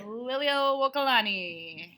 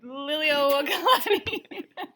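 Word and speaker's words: Liliʻuokalani: looks at you while you do it, is pronounce the Queen of Hawaii's name. Which is on the left side. Liliuokalani. Say it one more time. Liliuokalani.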